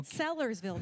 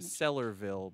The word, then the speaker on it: Sellersville: never know Barry Sullivan Sellersville though right it's not like Sellersville Sellersville that is correct a lot of people say stellar stellar ville but that's not right Adam what are you